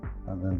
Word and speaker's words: ङ: और अगर ङ बनाना है, जिसको अंग भी बोलते हैं, जिसका शुद्ध उच्चारण तो ङ ही है लेकिन इसको अंग लोग बोलते हैं सुविधा के लिए, इस तरह बनाएंगे।